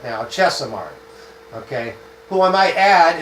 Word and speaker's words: Chesimard: I believe I'm pronouncing that correct now. Chesimard.